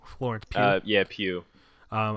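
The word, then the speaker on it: Pugh: Pew Florence uh yeah Pew um I actually had to look up how to pronounce it because it's p-u-g-h luckily I had a uh I had a school mate whose last name was Pew I'm actually into acting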